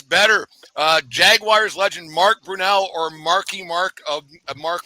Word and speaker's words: Brunell: too I recall I know exactly it's pronounced it's Brunel that's not a hard question